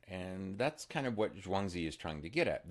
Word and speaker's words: Zhuangzi: I learned it as Zhuangzi many years ago. Um the more common way now, which is I believe more accurate, is to pronounce his name Zhuangzi um or Zhuangzi.